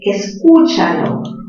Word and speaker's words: escúchalo: Por ejemplo, escúchalo. ¿En qué sílaba tiene la mayor fuerza de voz? La fuerza de voz está en u.